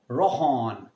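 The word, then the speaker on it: Rhône: Rohon is R-H-O-N-E. Now, why am I using a lot of the ha sound here? Because as you guys know, that in French, the alphabet R is pronounced as half of the ha and half of the ha. Ha, like you have a bad throat.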